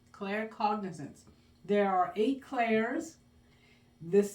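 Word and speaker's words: claircognizance: Clare cognizance.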